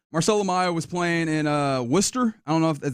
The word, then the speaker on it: Worcester: 22 years old, Marcelo was playing in uh Worcester. I don't know if is that how they say it? Yeah, Worcester um with their Red Soxa AAA.